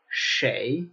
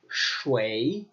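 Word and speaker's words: 谁: in China typically its che sure a che but in some locations particularly on older people it becomes shway shway shway now this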